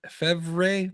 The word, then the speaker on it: Lefebvre: I'm gonna say the V is silent. Lefebvre? Ellie, it's Febvre. Fevre, probably silent B.